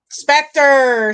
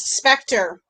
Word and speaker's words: Spectre: It sounds like the word factor. It rhymes with the word factor. Emily, don't even take that out of context, my girl. Spectre, Steve gets a point.